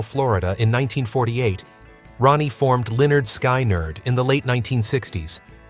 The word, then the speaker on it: Lynyrd Skynyrd: By 1973, the band had signed with MCA Records and released their debut album, Pronounced Leh-nerd Skin-nerd.